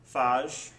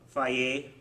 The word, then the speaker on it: Fage: And then we have for dessert snack the 0% Fage, Faye, yeah, that's the correct pronunciation of this yogurt.